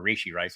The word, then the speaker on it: Rashee Rice: That's why the Rashee Rice thing, or Rashee Rice, I should pronounce it correctly, was so odd because the Chiefs are really transparent.